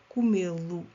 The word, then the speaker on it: comê-lo: Temos aqui acento circunflexo para manter a sílaba tônica. Comer, comê-lo. S'il n'y avait pas d'accent, se não houvesse acento, seria comê-lo. On veut garder la syllabe tonique, donc on ajoute un accent. Queremos guardar a sílaba tônica, o som E, por isso temos que colocar aqui acento.